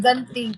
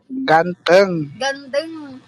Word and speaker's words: ganteng: Ganting. Kamo ito gantang bahasa Indo kan. Ganting yung Kalau sabi handsome. niya. Ganting. Ganteng.